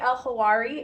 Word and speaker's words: Elhawary: It's like the H and the W in Hawaii. So, you know, just in case so we don't get that backwards. And then it rhymes with Ferrari.